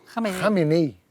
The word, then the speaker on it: Khamenei: O líder político e religioso do Irã, Ali como é que se pronuncia? Khamenei. Ali Khamenei. Khamenei.